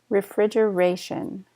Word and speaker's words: refrigeration: refrigeration refrigeration so notice the stresses on Ray refrigeration ribs ribs tender we were talking about the